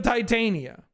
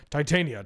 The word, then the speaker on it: Titania: to tell you, Titania, maybe less emphasis on the tit, but like Titania, I think that hits better than Titania.